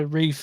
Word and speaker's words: Ralph: Yep, Ralph Fiennes. He goes by Rafe in the UK.